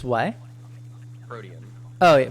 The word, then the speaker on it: Protean: Protean. Oh, yeah. Protein? What? Did you Protein. say No, like EAN. Like that's how you say it.